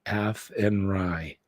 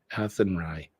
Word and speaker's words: Athenry: it's very windy the fields of atry is pronounced athenry athenry okay thank you it's like slan right is